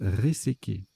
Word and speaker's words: réséqué: Alors, ça se prononce Réséqué.